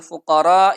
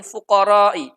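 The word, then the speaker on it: الفقراء: berbunyi innamas shodaqotu Lil fuqoro Iwal masa kini Wella ambilin alaiha salah satu santri tersebut membaca innamas shodaqotu Lil fuqoro ukoro nya itu dibaca pendek tidak dibaca panjang maka oleh Imam Ibnu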